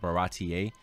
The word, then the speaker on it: Baratie: I think it's called Baratie. That's how you pronounce it.